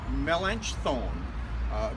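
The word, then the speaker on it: Melanchthon: of Martin Luther especially Philip melech thought or as we heard his name pronounced Mel inch thorn but Philip was Luther's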